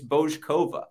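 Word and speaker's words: Bouzková: It's Bojkova. It's a hard O on both parts.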